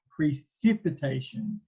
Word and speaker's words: precipitation: it by the word it's not precipitation it's pre sip the c actually makes an s sound so sip precipitation i i always forget